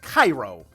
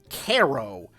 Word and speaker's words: Cairo: Like, and there's another town in New York that looks like it's spelled, it's supposed to be pronounced Cairo, like the African country, Cairo, but it's pronounced Caro, and I'm just like I have that Kermit the Frog scrunched look, like.